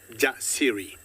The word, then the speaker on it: Jasiri: So the faith in her to survive and the courage, or how courageous she is, and we say that Jasiri.